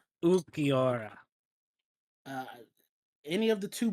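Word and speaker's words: Ulquiorra: Um, I don't know how to pronounce his name. Oh, Ukora. Ukior.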